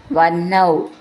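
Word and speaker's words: വഹ്നൗ: ഇതി മുഹുരിതി വാചിനം ഹരന്തം വന്നൗ ഹ ന എന്ന എന്നാണ് എഴുതിയത് വെച്ചാലും നമ്മൾ ഉച്ചരിക്കുമ്പോൾ ന ഹ എന്ന് വരണം അങ്ങനെയാണ് ഇതിന്റെ ഉച്ചാരണം പേര് ബ്രാഹ്മണൻ എന്നൊക്കെ പറയുന്ന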